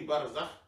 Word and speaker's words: Barzakh: Il dit que Ja'far, on dit Barzakh comme on dit Ja'far, c'est-à-dire les syllabes. Ja'far comme Barzakh.